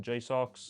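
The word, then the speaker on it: JSAUX: And one of those is a dock, which I've seen, you know, around 20 pound from Jox. That's how you pronounce it.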